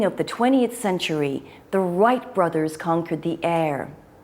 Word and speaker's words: Wright: Finally, at the beginning of the 20th century, the Wright brothers conquered the air. That's Wright with a silent W.